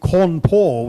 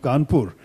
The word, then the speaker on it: Kanpur: If something was simply a British mispronunciation, as you know, Cawnpore was the official name of Kanpur until after independence, Cawnpore. And that's because the British spoke that way. We don't speak that way, so no problem with changing it to Knpur.